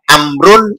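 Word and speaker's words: عمرو: biasa dibedakan dengan wawu Kalau setelah ro ada wawu Maka jangan dibaca Umar bacanya kalau enggak amrun Amrin amron itu ditambah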